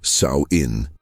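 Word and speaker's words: Samhain: The Kelts called this transition Samine, pronounced Saoin.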